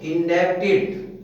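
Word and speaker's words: indebted: जैसे इंडेप्टेड, इंडेप्टेड है ये, कुछ लोग इसको इंडेप्टेड बोल देते हैं।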